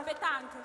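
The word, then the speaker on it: pétanque: Chiederò a voi come si pronuncia nel modo corretto, come si pronuncia? Pettanche.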